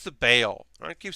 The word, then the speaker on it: Bael: It's not Bael, it's Bael.